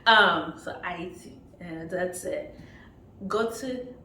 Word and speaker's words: Haiti: I do have to say, it's Haiti. We do not pronounce the H. So Haiti, and that's it.